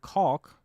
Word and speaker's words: caulk: What's the best way to remove caulk between slabs of concrete? Very good pronunciation of that word. Caulk. Actually, that I can actually hear the L in it.